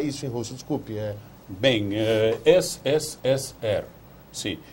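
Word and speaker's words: СССР: SSSR. Porque P latino é R russo, do alfabeto cirílico.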